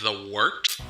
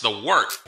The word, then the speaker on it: Wørt: It's pronounced the Wørt. What is it? The wort? Yeah, okay, I'll do that again. This is The Wørt on Govs Radio. It is the Wørt. Not warts, not forts, not short.